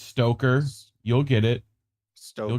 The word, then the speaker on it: Stoker: in mint press Greg Stoker have to make sure I really pronounce his name right stoker not with an extra R got to remember that